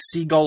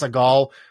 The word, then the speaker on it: Seagal: um the problem is in russia is called steven siegel almost like pronounced like seagull like the bird but in english he's uh he's seagal and i always screw